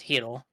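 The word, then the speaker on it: Chytil: They're talking about Cheadle or whatever the fuck you say his name. Heedle. Heedle. Yeah, sorry, it's Heedle. It starts with a C.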